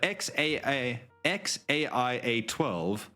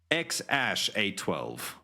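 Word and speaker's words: X Æ A-12: And then the AI is pronounced like Ash, and then A12. So his name is either XAIA12 or X-Ash A12.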